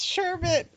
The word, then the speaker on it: sherbet: her i know because it sounds wrong it's sherbet i'm sorry i think sherbet sounds for i'm